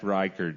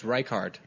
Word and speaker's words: Reichard: It's Reichard. Reichard. Reichard. Like rye bread card, birthday card. I kind of went way right there. But Reichard.